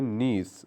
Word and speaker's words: niece: इसी तरह स्टूडेंट्स, जो भतीजी होती है उसकी इंग्लिश होती है नीस। बाद लोग इसे नाइस पढ़ते हैं, लेकिन वो बिल्कुल गलत है।